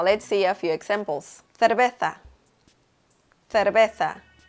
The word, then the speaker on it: cerveza: For the letter C, you make this sound specifically when you have the vowels E and I, like in cerveza or circo.